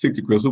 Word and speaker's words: Fictigristle: and i have a website which i pronounced 50 crystal but i'm not going